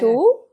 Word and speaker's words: Atul: Is it Hi, Atul? it's Atul. Yeah, Yeah. Atul. Yeah, Mm-hmm. Atul. So I'm pronouncing it right.